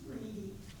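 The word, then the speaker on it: Ready: Linda, for future reference, his name is pronounced Reedy, Yeah. yes, It's R-E-A-D-Y. The dictionary says Reddy, I'm sorry.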